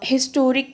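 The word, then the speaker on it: historic: लिहाजा हिस्टोरिक के साथ ज़ाहिर है इसकी साउंड भी जो है वो एच यहाँ पे साइलेंट नहीं है, हिस की साउंड ही आ रही है।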